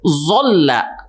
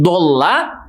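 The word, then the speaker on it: ظلّ: merusak maknanya seperti contohnya ketika kita mengucapkan kalimat Zola dan lam ya berubah menjadi zona ya Bo dan lam nah yang dimaksud adalah Zola tapi ketika membacanya menjadi bola itu akan merubah artinya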